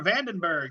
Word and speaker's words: Vandenbergue: lead singer uh Vandenberg am I pronouncing your name right yes you are Vandenberg that's right like Adrian no no